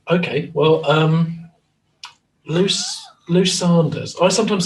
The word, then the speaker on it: Lou Sanders: How do you pronounce Lou Sanders? Is it Sanders or Saunders? Right. Okay. Well, Lou Sanders.